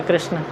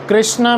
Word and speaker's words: कृष्ण: के जो लोग हैं कृष्ण में जो श आता है वो श वो लोग प्रोनाउंस नहीं कर पाते। ज्यादातर वो श को च बोलते हैं या च क ऐसा कुछ बोलते हैं।